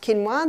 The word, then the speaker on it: quinoa: become familiar with it's spelled quinoa but it's pronounced quinoa the Aztecs love their quinoa Aussies are starting